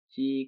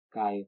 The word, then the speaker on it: χ: Dan ini membacanya bukan X kuadrat, tetapi C kuadrat atau K kuadrat.